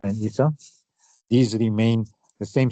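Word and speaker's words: عيسى: Isa remains Isa, and notice this is an alif here, right? With the ya without dots, so it's pronounced like this alif as well.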